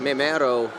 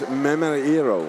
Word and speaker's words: Memeiro: Pere Bellari will be going against Memero when we get that whistle to get back to the action. Is it? I think we've been told it's Memeiro.